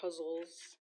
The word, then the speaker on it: ghazal: So I will first read the ghazals or huzzles, it's pronounced in my world, from the authors Mir and Ghalib.